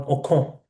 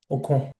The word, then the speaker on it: Ocon: It's for me, it's Esteban Ocon, as the French pronounce him. No, I've screwed up the pronunciation. I can never speak in French. I need to sing the language to understand it. Ocon.